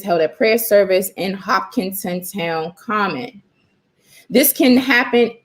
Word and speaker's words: Hopkinton: mother in related news hopkinton h-o-p-k-i-n-t-o-n i guess i was mispronouncing it hop content schools closed early on